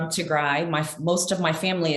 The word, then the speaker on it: Tigray: berhana musco um and i just want to correct the pronunciation is to gray i'm from tigrai my most of my